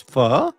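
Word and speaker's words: phở: It's not It's not pronounced fu, it's fur.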